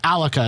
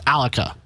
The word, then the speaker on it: Alukah: never say it right so it is alika is that the final story it's alika that is the final because even you on